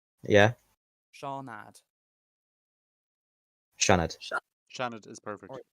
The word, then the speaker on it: Seanad: Shanad. Okay, the Imagine, Shanad. like, Thank you. you know the name Sean? Yeah, Seanad.